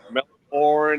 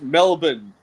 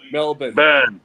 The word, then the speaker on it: Melbourne: I I I like how Americans say Brisbane and Melbourne and like that that it's it's it's Melbourne. So the way you So you pronounce it M E L B U N Melbourne.